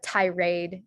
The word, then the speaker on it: tirade: example of that uh tirade is slightly different that's pronounced aid and then sakad is